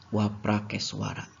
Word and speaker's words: Waprakeswara: Yang paling terlihat adalah ditafsirkan bahwa adanya sebuah lapangan luas tempat pemujaan Dewa Siwa bernama, kalau ditulisnya dalam bahasa India itu Frapakeshvara, tapi kita bacanya Waprakeswara.